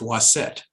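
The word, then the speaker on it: Waset: Wa-Set in hieroglyphs is a was scepter with a feather and a T, together pronounced Wa-Set, and the city symbol.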